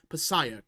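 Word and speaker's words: Passaic: close my state was also it's pronounced payak picak okay okay uh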